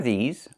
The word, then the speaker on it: these: Make sure you make the long e sound like green beans. These plus the z sound like in zebra and zipper. Z with a voice.